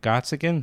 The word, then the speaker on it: Gottsagen: And then this guy you found, Zack Gottsagen. How do you pronounce his name? Gottsagen, but yeah, Zack Gottsagen. Gottsagen.